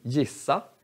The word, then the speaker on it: gissa: G uttalas som j. Till exempel, ja, ge, ge, genom, eller bara ge. G-i, gissa, gissa, j, gissa.